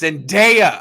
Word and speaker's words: Zendaya: Everyone's like, it's Zendaya. I'm like, it looks like it rhymes with Maya.